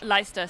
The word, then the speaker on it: Leicester: I think that's pronounced Leicester, is it? Leicester, sorry, that's embarrassing.